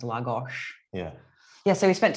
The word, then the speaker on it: Lagos: And we're in Lagos, which is pronounced Lagos.